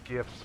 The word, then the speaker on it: GIF: oh no it's GIF G's pronounced like a j like like how people